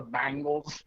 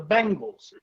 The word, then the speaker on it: Bengals: pronounce the bengals the bangles it's not bang it's not spelled b-a-n-g they always say the bangles it's the bengals i think 95 percent